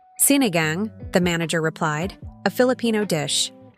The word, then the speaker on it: sinigang: The following week, the menu read staff inspired soup, sinigang, a Filipino tamarine stew. Customers asked about it. Some pronounced it wrong. Sineigong.